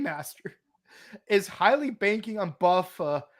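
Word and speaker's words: Buffa: is highly banking on Buffer because it rhymes with tougher to be the winner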